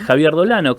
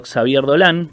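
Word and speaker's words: Xavier Dolan: al año 2012, donde Javier Dolano, Xavier Dolán, porque se escribe con X e nos empieza a mostrar las diversidades de un lado más íntimo, más privado, ¿no?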